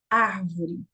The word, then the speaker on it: árvore: E, por último, eu trouxe a palavra árvore. Qual é a sílaba mais forte da palavra árvore? Vamos lá? Árvore. Então, você percebeu que a sílaba mais forte é o ar.